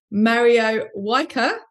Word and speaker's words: Mario Wijker: I'm really happy to have as guest on the show, Mario Wijker.